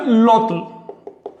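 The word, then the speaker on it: -lotl: Esta y se contamina con la l, así que eso se pronuncia lotl.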